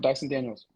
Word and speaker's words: Dyson Daniels: Yep, Dyson Daniels.